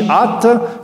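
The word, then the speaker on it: ܐܢܬ: Kaddish at means you are holy. It's actually A-N-T, ant, but the N's been dropped off in pronunciation.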